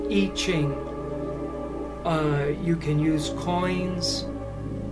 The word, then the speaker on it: I Ching: I highly recommend something called the I Ching, or you might pronounce it the I Ching, because that's how it's written, the letter I and then Ching, but it's pronounced I Ching.